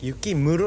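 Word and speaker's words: 雪室: Yukimuro được đọc là "yukimuro."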